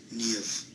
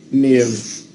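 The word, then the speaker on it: Niamh: This is an Irish name, and it's pronounced Neve.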